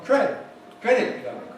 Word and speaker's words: credit card: And we hear the cardo, as if the main stress is on cardo. But in English it's on credit card, credit card, credit card, credit card, credit card.